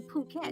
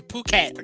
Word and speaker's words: Phuket: Okay, guys, this is how you say Phuket, and it says Phuket, not Phuket.